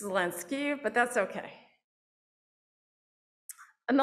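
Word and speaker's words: Zelensky: bit closer um and it's not zelenski it's lenski but that's okay and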